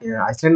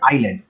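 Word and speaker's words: island: the name of দা আইসল্যান্ড আইসল্যান্ডের নাম কি আইসল্যান্ড actually হচ্ছে এটা আইল্যান্ড বলা হয় উচ্চারণটা হবে আইল্যান্ড তো এই কোন আইল্যান্ড যেটা হচ্ছে তোমার ইমার্জিং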